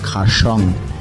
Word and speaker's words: কার্শিয়াং: সাদা অর্কিডের সৌন্দর্যে এই অঞ্চলের লেপচারা জায়গাটার নাম রেখেছিলেন খারসং, যা ব্রিটিশদের বিকৃত উচ্চারণে হয়ে উঠল কার্শিয়াং।